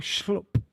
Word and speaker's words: Schlupp: It's really schlupp. Right. Schlupp. Yeah, because it's Dutch and it's more of a soft ooh. Ooh, schloop.